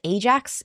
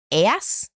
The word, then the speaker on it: Ajax: In particular, Nestor, king of Pylos, arrives home safely, and soon the lesser, how do you pronounce Ajax? It's Aias, I think.